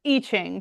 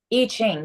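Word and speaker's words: I Ching: And it's Iching, correct? Iching.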